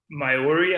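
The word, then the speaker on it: Māori: she's um she's uh myori i believe is how you say it um but um indigenous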